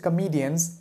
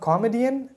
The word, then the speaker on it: comedian: Charlie Chaplin is one of the greatest comedians of all time. So it's not comedian, it's comedian.